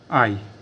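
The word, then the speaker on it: hai: आय क्वां क्वां आनी आई आई दोस्तों इटालियन में एच साइलेंट होता है को कभी नहीं पढ़ा जाता तो इसको क्या बोले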